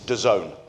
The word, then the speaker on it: DAZN: These letters, what is it? How do you say that kind of thing? It's DAZN. And the really cool way of thinking of it is if you're down with the kids, you're in DAZN.